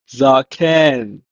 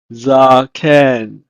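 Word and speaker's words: זקן: In Hebrew, is pronounced as zaken, zaken.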